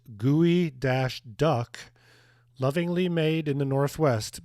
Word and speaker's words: geoduck: The gooey duck, pronounced gooey dash duck, lovingly made in the Northwest by people who really dig ducks.